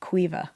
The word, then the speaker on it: Caoimhe: The way that's spelled, it's Caoimhe, but pronounced Quiva.